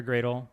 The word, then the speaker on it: Gradle: got it wrong uh do you pronounce it Gradle or as my friend from Singapore Delights in suggesting to troll me is it more like Bradley or gradley uh Gradle okay it's only been like